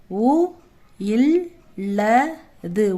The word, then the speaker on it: உள்ளது: அ ழ க அழகாக உள் ளது உள்ளதுன்றத இல்லு ஹெவியா உச்சரிக்கணும் அதனால பெரிய இள்ு தான் போடணும். இந்த சின்ன இல் போடக்கூடாது. குழந்தையின் ஆடை அழகாக உள்ளது.